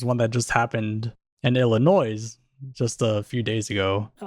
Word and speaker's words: Illinois: was because there's one that just happened in Illinois just a few days ago okay whoa there's your East Coast coming out what Illinois Illinois he said Illinois is it Illinois though it's Illinois the that reminds me of a we have